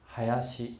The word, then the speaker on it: 林: 这个林呢念成 Hayashi Laran，在日本，如果将